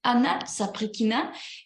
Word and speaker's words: Anna Saprikina: Et la partie la plus difficile, c'est ce son U. Et si vous voulez le prononcer correctement, et vous avez besoin de quelqu'un qui va vous tousser à votre stomac et au bout de souffle et à cause de la douleur, vous allez dire « U » et c'est exactement correct, sonne et comme ça, vous pouvez prononcer mon nom correctement.